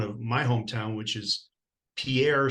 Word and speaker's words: Pierre: my hometown which is Pierre South Dakota except we pronounce it Pier so Pierre South Dakota